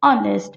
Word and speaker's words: honest: an honest women see though I'm honest has hitch in it the pronunciation is honest which is a world sound so my mother is